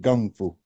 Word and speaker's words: kung fu: I study kung fu. That's how we pronounce it. Yeah, gung. I'm very, I'm fluent with the Chinese. We pronounce it gung fu.